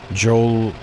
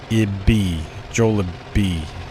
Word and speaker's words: Jollibee: But the correct pronunciation is Jollibee. Jollibee. Jollibee.